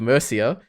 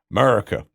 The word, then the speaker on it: Mercia: Actually, I think America. That is what I think. It's not quite America. Yeah. Well, I pronounced it incorrectly, but Mercia is. Yeah. Is the correct way.